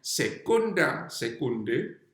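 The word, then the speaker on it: secunda secundae: Dua itu bacanya secunda secunde.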